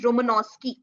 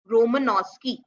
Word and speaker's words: Romanowsky: The pronunciation is Romanowsky. Romanowsky.